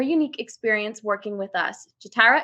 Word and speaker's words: Ja'Tyra: I'm your host Saga jakup today joined by jatara did I pronounce that correctly it's jarra you have it correct Perfect all right she